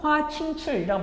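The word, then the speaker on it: 華清池: 중국 발음으로 화칭출이라고 발음되는 지역이라서 선생님이 여러분들한테 영상으로 보여드렸을 겁니다.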